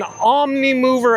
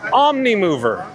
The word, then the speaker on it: Omnimover: Mermaid is an omni-mover attraction.